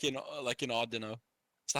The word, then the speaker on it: Audino: lane monkey is like in Audino. Is that how you say his Uh, name? Odd no's are the odd no is how you say it's now, yeah.